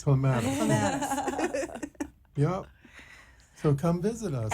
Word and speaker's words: Clematis: And it's this beautiful restaurant called Palm Sugar in West Palm Beach on, I can never say it right, Clematis? Clematis.